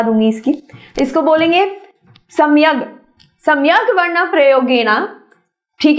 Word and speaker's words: सम्यग्वर्णप्रयोगेण: मैं आपको प्रोनाउंसिएशन भी सिखा दूंगी इसकी। इसको बोलेंगे सम्यग, सम्यग वर्ण प्रयोगेण।